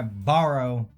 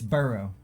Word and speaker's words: borough: did I say borrow you said like can I borrow a borough its burrow but you said borrow which is bare is it